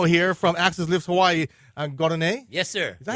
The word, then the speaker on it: Gardine: Gardine? Yes, sir. Is that how you pronounce it? Gardine?